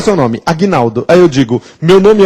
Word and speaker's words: Agnaldo: Será que o meu nome tem um G mudo? Não, porque se o G fosse mudo, eu nem pronunciaria meu nome. Já pensou que horrível? Eu ficaria com G mudo? Tenebroso. Então, Aguinaldo tem um G sonoro sem vogal posterior.